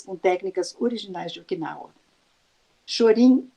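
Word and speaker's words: 少林: técnicas culinárias do final chorinho é a pronúncia japonesa de Shaolin que é o templo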